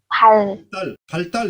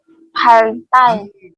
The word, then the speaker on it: 발달: 발달 해보세요. 발달. 반달, 반 콧소리 내면 안 돼요.